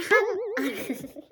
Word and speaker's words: 半: 3 means 3, ji means hour, and han han means half.